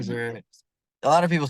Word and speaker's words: Strozier: And I apologize right now because I did your intro already and I said Strozer. I mean, that a I lot of people pronounced say it wrong. Strozier.